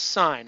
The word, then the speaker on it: sine: ratios sine it's pronounced sine I know on your calculator it looks like sin SI n but there's nothing biblical about it okay cosine Coast and